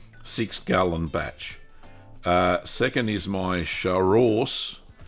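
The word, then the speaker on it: Chaource: By the way, it's pronounced char-ors. Char-ors, like a horse.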